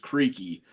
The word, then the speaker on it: Creeque: Both of which I believe are pronounced creaky.